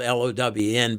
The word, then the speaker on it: Lown: So, when we um get these awards from the Lown, it's spelled l o w n, but they say it Lown.